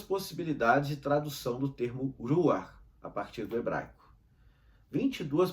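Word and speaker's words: רוח: São 3 letras hebraicas, 3 consoantes hebraicas que pronunciamos ruach.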